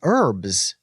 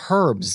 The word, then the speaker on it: herbs: because where I'm from we say herbs instead of herbs there's no hard H in America you know I'm not from the UK where you have the hard H herbs like we just